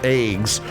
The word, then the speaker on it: AGWS: You can either let fight on foot or you can have what they call AGWS or it's pronounced eggs.